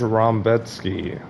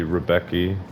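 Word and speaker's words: Rębecki: On to the next fight, the co-main event: Chris Duncan versus Mateusz Rambecki, or that's how they pronounce it. It should be Rebecki. I don't know.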